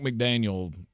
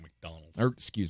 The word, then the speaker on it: McDaniel: Mike McDaniel, to me, has been MVP level for this team. Mike McDonald. Mike McDonald.